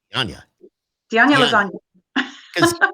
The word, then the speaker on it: Dianña: Well, Now, Skip couldn't pronounce it, and I told him it's like lasagna. Yeah, so it's Dianña.